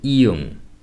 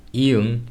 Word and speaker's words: 이응: In a syllable, when the pronunciation starts with a vowel, 이응 should be used in the consonant position, and it will be pronounced nothing else but just the vowel sound. For example, 아이, 아이, 오이, 오이. However, when 이응 are written in the bottom, it will be pronounced as the ng sound, the nasal noise.